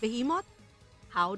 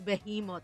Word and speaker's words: behemoth: me say behemot guys why is it pronounced like a letter I if it's spelled with an E English is confusing be